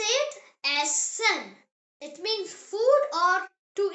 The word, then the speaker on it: Essen: E, pronounced as A, like the E in the English word bed. The example word is Essen. Say it Essen.